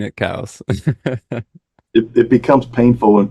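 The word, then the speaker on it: Coues: most but maybe I'll start honoring him and pronouncing it cows if it becomes painful when people on the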